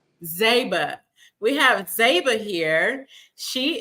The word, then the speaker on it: Zeiba: name is it Zeba is that am I pronouncing that correctly it's Zeba zba we have zba here she is my special